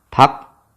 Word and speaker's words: 밖: 쌍기역이 왔죠? 자, 이거는 발음할 때 어떻게 된다? 바뀌어야 돼요. 뭘로 바뀌어야 돼요? 기역으로 바뀌어야 되는 거죠. 그러니까 발음이 어떻게 됩니까? 박 하고 나서 기역으로 바뀌게 되겠죠.